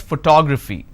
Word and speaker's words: photography: toe four syllables but in this case i stress on the second syllable that is what word